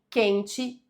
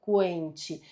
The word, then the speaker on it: quente: E na letra B, na letra B nós temos dois dígrafos. Aqui, ó, as letras Q e U tem um único som, representam um único som.